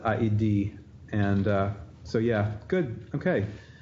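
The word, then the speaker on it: ᾍδῃ: You have all these vowels, and in the case of aidi, which means Hades, you do that iota, you do pronounce it aidi, and so yeah, good.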